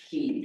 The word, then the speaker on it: quay: For example, you guys may know this, but there's a word, and it's always pronounced key, but it can be spelled Key, Caye, Quay.